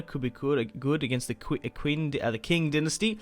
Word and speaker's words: Qing: Pushing into China could be good against the Qing dynasty. I think it's pronounced King instead of Quinn.